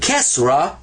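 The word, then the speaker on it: كسرة: In fact, that's called kesra. And kesra is pronounced E. So that's ah, and that's E.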